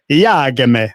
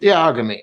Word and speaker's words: iag.me: Well, it is technically iag.me, but we were talking about this before. I think you should pronounce it in a very Italian way. So, Iagmi, like that. I think that sounds quite good.